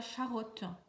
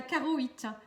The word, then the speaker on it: charoïte: Et la pierre qui pourrait vous aider c'est la charotte. Non, non c'est pas la charotte, c'est la charoïte.